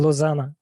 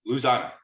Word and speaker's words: Lausanne: I can't pronounce it. Switzerland, in Lausanne. Lausanne.